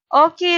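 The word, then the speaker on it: を: to understand and of course the pattern sentence or pattern word order paramas madalina ma understand so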